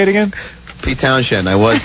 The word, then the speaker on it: Townshend: You don't even know how to say Pete Townshend's name. Spelled with an H, man. How do you say it again? Pete Townshend.